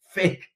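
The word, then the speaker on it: PHEIC: But without any cases, they wouldn't be able to declare a public health emergency of international concern, whose acronym is PHIC, and that is pronounced fake.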